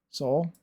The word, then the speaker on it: Seoul: I mean, soul, I believe, is the correct pronunciation.